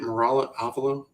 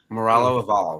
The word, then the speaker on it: Moralo Eval: Is that how you say it? Moralo Avalo? Eval, yeah, you're right. Moralo Eval, right? That sounds right.